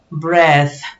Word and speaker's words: breath: Bread red en cambio la th en inglés tiene dos formas de pronunciación y una de ellas es muy similar a nuestra dread así como un poquito exagerada breath en cambio pan es